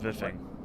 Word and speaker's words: VIFFing: It's called Viffing. Viffing? Yes. Spell that. VIFF, all capitals, ING.